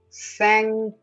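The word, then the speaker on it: cinq: just change the language sank it's not thank you it's sand sang sang observe the tongue sang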